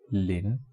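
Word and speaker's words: 林: So here we have one tree like this and another tree like this, and the pronunciation of is lin, L-I-N, lin, with the rising tone, lin.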